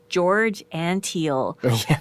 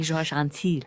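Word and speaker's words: Antheil: And I always say it with a French pronunciation, but it's not. He's American. George Antil. I always want to say Georges Antil.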